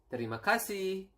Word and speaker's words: terima kasih: It is terima kasih, and then sorry, maaf, and then we have